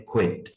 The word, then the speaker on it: quit: एक है वर्ब है QUIT, उसे हम पढ़ते हैं क्विट, क्विट का मतलब होता है लीव, छोड़ देना।